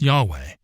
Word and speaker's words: Yahweh: caps the Hebrew on the other hand is pronounced Yahweh and is based on the term for I